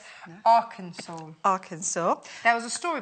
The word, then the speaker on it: Arkansas: Not Arkansas, Not like Arkansas, I said. no. Arkansas.